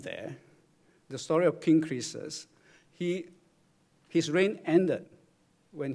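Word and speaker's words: Croesus: as you might guess the name creases is of great origin and I yes I turn to Google to find out how to pronounce it apparently that's the way you pronounce it creases I hope Google is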